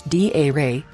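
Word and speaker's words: だれ: don't know any Japanese dare pronounce d a ray means who daredi Suka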